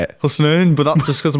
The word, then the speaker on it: Husnain: Husnain, but that's just because of my accent.